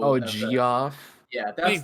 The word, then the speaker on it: Geoff: That's like Jeff with the G-E-O. Oh, Geoff.